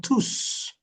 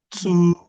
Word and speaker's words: tous: Ils sont tous. When it has to do with a pronoun. But for an adjective, the S is not pronounced.